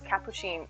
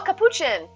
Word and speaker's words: capuchin: how you say it i always thought it was cappuccine i'm obviously not right little fib they gave me the follow i apologize if i'm not pronouncing that correctly please feel free to correct me welcome in and do you have a favorite animal crossing villager if so feel free to share it is it chin oh capuchin i've heard that now that sounds right but thank you thank